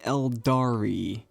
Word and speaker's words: Aeldari: today we're going over the elari emphasis on the E even though it's spelled with an a these are your typical